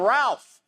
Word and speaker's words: Ralph: win tonight, we all get to call him Ralph. Hey, Ralph, give me a towel. I don't understand that joke. Because his name is spelled like Ralph, but you call him Tell if Rafe.